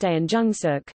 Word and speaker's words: 대한중석: Korea Tungsten Company, KTC, Korean, Daeanjungsog, pronounced Daeanjungsuk, Hanya, Da Horn Jung